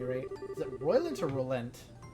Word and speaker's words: Rolent: Is it Roylant or Rolent? Roylant. Roylant. Ruin, Zeiss, We will- Grand Cell. Okay. All of these proper pronunciations are gonna be fixed.